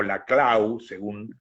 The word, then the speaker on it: Laclau: Digamos también que hay, y además esto es muy criollo, está Ernesto Laclau o Laclau, según se quiera pronunciar, eh, ha hecho con